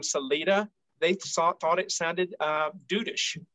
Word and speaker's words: Salida: Proper Spanish is Salida, but we do not pronounce it that way. Locally, it is Salida.